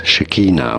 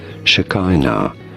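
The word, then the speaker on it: Shekinah: Although some might say it also as Shikina which is closer to the Hebrew pronunciation Shikina or Shakina shaken all.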